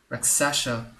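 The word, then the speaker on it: Rakshasa: Raksasha.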